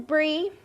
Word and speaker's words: Bri: hello everybody hello mondo my name is bri bri is spelled b-r-i and it's short for brie b-r-i-e did you notice i